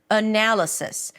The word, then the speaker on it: analysis: Analysis. The primary stress is the one syllable that sticks out the most. And in this case, it's the second syllable.